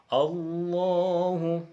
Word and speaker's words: Allah: Jadi Allah itu adalah sesuatu lafadz yang agung, harus membacanya dengan agung. Harus dengan benar, dengan lafadz yang benar.